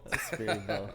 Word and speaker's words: SpiriBolt: I is silent. Yeah. Spirit bolt. SpiriBolt.